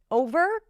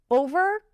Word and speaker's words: over: Over, again, with a different intonation pattern. Over, make sure you round your lips.